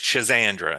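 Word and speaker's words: Schisandra: There's another one called Chisandra. Always reminds me of a um something a magician would would say, but it's Chisandra. It's spelled S C H I S A N D R A.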